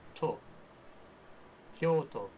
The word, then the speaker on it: Tokyo: So it's it's to not to I mean for Tokyo it's Tokyo because it's to o u k y o u.